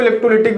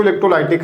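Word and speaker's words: electrolytic: इलेक्ट्रोलाइटिक, कुछ लोग इसको इलेक्ट्रोलिटिक भी बोलते हैं, मैं भी इसको इलेक्ट्रोलिटिक ही बोलता हूं। वैसे इसका सही प्रोनाउंसिएशन तो इलेक्ट्रोलाइटिक है, बट कोई ना, इंग्लिश तो आपको हम सिखा नहीं रहे हैं।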